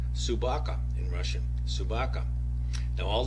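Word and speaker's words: собака: Dog, by the way, is pronounced Subaka in Russian.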